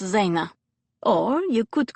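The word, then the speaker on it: жена: me russian what's the word for wife it's pronounced zayna or you could call me you be maya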